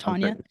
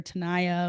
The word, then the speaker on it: Tanya: name in general like my just Tanya they'll say like Tania or Tanaya or and you know